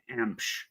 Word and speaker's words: Emch: My last name is pronounced Emch. Okay. Well, and that's okay. EMC. It's pronounced Emch. So if there was if it was spelled EMPCH, that's how you pronounce it.